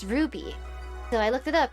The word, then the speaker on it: RWBY: would say rwby and matt told me it's pronounced ruby so i looked it up and yeah i